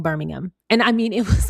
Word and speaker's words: Birmingham: And yes, you would emphasize, I don't know about emphasize, but you would pronounce the ham in that Birmingham. But Birmingham, England, it's kind of all together.